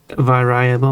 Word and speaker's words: variable: You basically you put the emphasis on the second syllable. The emphasis normally goes on the first syllable in English.